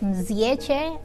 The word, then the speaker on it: Mzyece: My last name is pretty tough to pronounce, but it's pronounced as Mzyece.